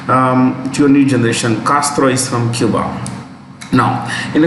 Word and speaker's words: Castro: a spanish theme so when you pronounce spanish names you need to suppress a in the mouth you don't say castro we say castro pure english castro is the right way raul castro has confirmed